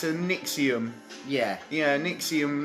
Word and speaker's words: NXIVM: Yeah, Nixium, not Nexus.